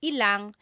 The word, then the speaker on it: ilang: When there's ilan ang, it's usually put together and it's ilang.